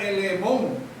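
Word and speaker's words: ἐλεήμων: Ahora, la palabra griega utilizada en este versículo precisamente es una palabra que se pronuncia elemón.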